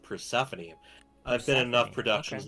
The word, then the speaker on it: Persephone: No mistake, but it's pronounced Persephone.